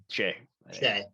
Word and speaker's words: Shai: I still don't know how to pronounce his name. Shai.